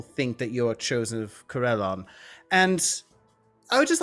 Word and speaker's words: Corellon: Did you just say Corellon wrong? Corellon.